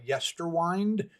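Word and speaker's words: Yesterwynde: Uh we are going to continue our walk through the newest Night Wish album uh Yester Wind.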